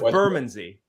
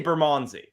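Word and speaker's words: Bermondsey: it in Toronto and we pronounce it so differently because I know it's burmansy we say burmanzi I've never heard um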